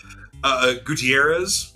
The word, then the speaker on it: Gutierrez: Can you pronounce it for me? Gutierrez.